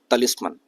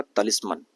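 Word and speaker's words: talisman: अगला शब्द है तलिस्मन। यह एक नाउन है और इसका प्रोनाउंसिएशन होगा तलिस्मन। तलिस्मैन नहीं होगा।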